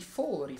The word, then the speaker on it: fori: I fori imperiali si pronunciano con la O aperta. I fori fatti nel muro si pronunciano con la O chiusa.